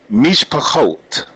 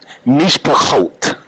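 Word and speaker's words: מִשְׁפָּחוֹת: Wa'avaraka mevarkaka umikwaleka aor wenivraku baka kol mishpachot ha'adama. Did y'all hear that? Mishpachot. Don't get away from that guttural.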